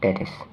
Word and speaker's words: teres: are the two heads of brunette that is pronounced teres okay so this is the brachioradialis and these